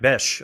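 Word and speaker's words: Bech: And then another one would be uh Jack Besh. I always say his name wrong, Jack Beck, but it's Bes.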